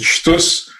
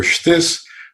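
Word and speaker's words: שטות: They pronounce it shtus or shtis, but it means ridiculous, stupidity.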